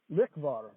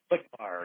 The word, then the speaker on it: Lichvar: Lichvar. Okay. Lichvar, yes. That's how we pronounce it.